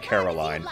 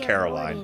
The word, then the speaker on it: Caroline: Yes, it looks like Caroline. Most normal people will pronounce it Caroline, but it's Caroline.